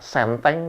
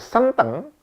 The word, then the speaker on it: senteng: Sedangkan senteng ee apa ejaannya sama s e n t e n gitu ya tapi pengucapan e-nya berbeda senteng.